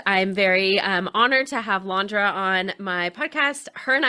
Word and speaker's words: Landra: And it's actually Landra. It's usually Landra. mispronounced the first couple times, but it's Landra.